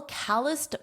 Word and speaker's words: calloused: and noticed a little calloused bump on my pinky finger. Do you know what this word is? Listen to the pronunciation. Calloused, calloused, calloused, because this ED is being pronounced as a soft T, t, calloused bump on my pinky finger.